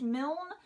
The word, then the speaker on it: Milne: this in a a Milne pronounced Milne like the original Winnie the Pooh this is a pop-up